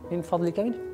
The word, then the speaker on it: من فضلك: You are familiar with min fadlika means please, please in Arabic.